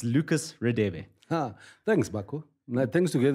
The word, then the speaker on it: Radebe: But how do you pronounce the name?" And I'm like, "It's RADEBE."